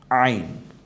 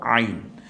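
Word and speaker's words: عين: দুইটা এই হরফটার নাম কি একটু দেখি তো আইন আইন আইন গলায় একটু চাপ দিয়ে উচ্চারণ করতে হবে হা এর মত যেখান থেকে কন্ঠনার ঠিক মিডেলে আমরা এখান থেকে বলব আইন এটা যদি আইন হয় এই হরফটা এখনো কি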